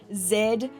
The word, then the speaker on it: Z: are up to the letter Zed or Z depending on where you are in the world in Australia we pronounce it as Zed that's how I'm going to be pronouncing it in this video I do apologize before